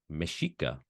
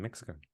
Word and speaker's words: Mexico: So technically, OG Mexico is pronounced Mexico. Interesting. Okay. Rather than Mexico.